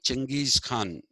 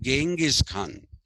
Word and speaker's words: Genghis Khan: And after they wrote it with a G, they decided to pronounce it with a as a G sound and not as a J sound.